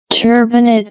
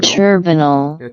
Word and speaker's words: turbinate: conci also called nasal turbanite or turbonate turbinate or or turb turbinal turb turbinet see that again turbinate